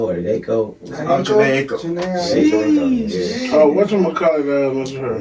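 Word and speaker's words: Jhené Aiko: I always get her name wrong. Bruh from Detroit lady. They just had a baby, light skin. Janie Jaco or Jaco. Janae Aiko.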